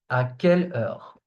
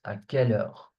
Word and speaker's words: à quelle heure: À quelle heure? At what time? So, it's pronounced like this. À quelle heure? À quelle heure? Remember that EU in French is pronounced E.